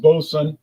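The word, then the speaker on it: Boatswain: The latest entry to our Bosom, pronounced Boson, line of beers is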